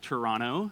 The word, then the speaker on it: Toronto: yeah so I'm from Toronto uh but it's pronounced Toronto no tea at the end there um yeah